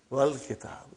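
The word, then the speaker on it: والكتاب: When it came in front of Hamzatul Wasal, you did not pronounce. You will say, Wal Kitab.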